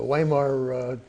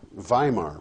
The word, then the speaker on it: Weimar: Well, that republic, Weimar, by the way, W is pronounced like a V.